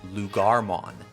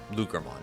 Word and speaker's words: Loogamon: On to the champions, and we've got a slightly bigger doggo in Lugarmon, or Lugermon, however you want to pronounce it.